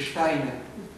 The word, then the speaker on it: Steiner: Steiner, se dice Steiner.